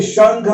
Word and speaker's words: शंख: ऐसे ही शंख, देखिए शंख में ख है, ये लाइन का आखिरी में न की आवाज करेगा, ख के पहले उच्चारण होगा इसका।